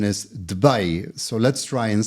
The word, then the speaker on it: Dubai: In a previous session, we learned that proper pronunciation is Dubai. So let's try and say that properly. Dubai.